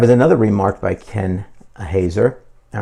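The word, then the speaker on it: Haeser: was remarked by Ken I think it's pronounced um Hazer H A E S E R but this was a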